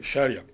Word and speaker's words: Sharia: Sharia. Bueno, ahí está. Sharia, ¿no? Nunca sé dónde poner el acento. Ponlo en la S. Sharia. La Real Academia le pone el acento en la I, pero bueno, Es ¿no?